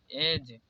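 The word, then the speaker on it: edge: देखिए ब्रिज, यहाँ पर ब्रिज नहीं पढ़ा जाता है, यहाँ पर डी साइलेंट है इसलिए ब्रिज। यहाँ पर एज, यहाँ पर हेज, यहाँ पर बेज।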